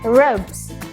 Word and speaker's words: robes: Another example, robes. Robes. Kata robe diakhiri dengan suara B. Yang mana S-nya harus diucapkan dengan cara Z. Robes.